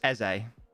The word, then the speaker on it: Eze: It's pronounced Eze. That's what I'm saying, isn't it? But isn't it pronounced Eze?